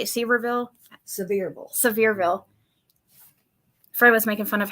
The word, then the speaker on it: Sevierville: Sevierville.